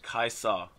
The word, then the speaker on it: Kai'Sa: Kai'Sa.